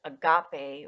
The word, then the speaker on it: agape: And agape or agape, I've heard both pronunciations, selfless, unconditional love, universal love, and the purest form of love.